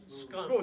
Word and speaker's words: Scone: the Scone Palace but I guess they pronounce it SC scun scun scun I like scones better than I like scun but anyway um the